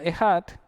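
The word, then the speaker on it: אחד: Uno se pronuncia Ejad, y se escribe con la Aleph, la letra Het y la Dalet.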